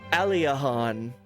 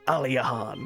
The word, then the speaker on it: Aliahan: Aliahan. That's how you say it. I think that's what I've been saying. Aliahan.